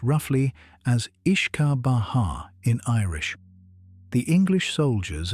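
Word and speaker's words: uisce beatha: The word whiskey is simply an anglicization of Wuishi Batha which is pronounced roughly as I ishka Baha in Irish.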